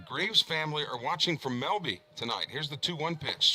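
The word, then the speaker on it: Melba: The Graves family are watching from Melby tonight. Here's the 2-1 pitch. Swing and a miss. And only if you're from Lamar County would you know to pronounce M-E-L-B-A, Melby.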